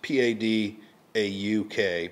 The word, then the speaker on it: Padauk: It's P-A-D-A-U-K, but I think it's pronounced Padauk. I think the second A is silent.